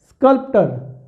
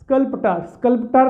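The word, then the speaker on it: sculptor: British English में last are इज़ not pronounced, तो इसको हम स्कल्प्टर आर नहीं बोलेंगे, ठीक है ना, स्कल्प्टर नहीं कहना, आर को रोक ले, स्कल्प्टा द पर्सन हु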